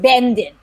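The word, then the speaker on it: Będzin: very well in yiddish the jewish community called it so if you if you are jewish you have family from there you would have called it benden um but bajin is is it is sort of i believe how it is pronounced now in polish and bajin had been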